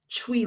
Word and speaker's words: Twi: So SANKOFA is a word from I believe it's a Twi, it's pronounced Twi language of Ghana, meaning to retrieve, right?